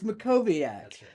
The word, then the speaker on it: Mackowiak: The family members are mispronouncing, so don't worry about Yeah. Yeah. It's Makoviac.